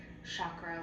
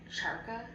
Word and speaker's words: chakra: And I know it's just her brain messing up because she also says chakra like charka.